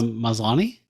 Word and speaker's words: Maslany: How do you pronounce her last name? It's Tatiana Tatiana Maslany.